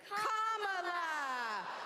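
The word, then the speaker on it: Kamala: First, you say comma like a comma in a sentence. Johnny say la like la. Put it together and it's one two three comma.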